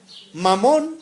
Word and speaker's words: Mamón: Mamón, con acento en la O, es un término arameo que significa riquezas.